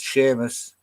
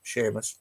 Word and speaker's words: Seamus: Tig is another one they can't pronounce. Seamus, for some reason. It's not that hard. Seamus, can't pronounce that.